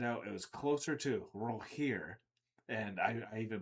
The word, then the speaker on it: Rogier: So I say that because of the just because of Roger's intelligence, but just knowing so many different things, especially about languages.